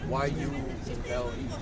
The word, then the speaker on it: Yule: It's Y-U-L-E. Pronounce it Yule.